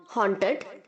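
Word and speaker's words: haunted: करना या होना हांट हॉन्टेड हॉन्टेड इसको आप के आगे जो ए यू है उसे ओ की तरह साउंड करेंगे ऑन हॉन्टेड हॉन्टेड हांट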